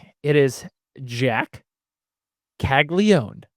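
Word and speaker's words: Caglianone: But it's not it's it's it is Jack Kaggleon. How old would you I know there's no major surprise there, but that the proper way to say it is Kaggleó.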